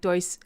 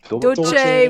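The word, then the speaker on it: Dulce: So, and I know like this, like Doyce, am I pronouncing that right? So I wish somebody out there doesn't know if I'm not pronouncing this right, Doyce, Doyce, it's Dolce, whatever.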